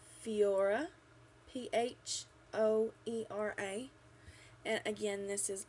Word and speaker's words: Phoera: this is i think it's spelled or or pronounced fiora p-h-o-e-r-a and again this is a primer super